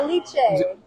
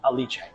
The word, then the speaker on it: Alice: Aliche. In uh in Italy, we don't say the you don't say uh the name Alice, you say Aliche. So, we pronounce it in Italian way.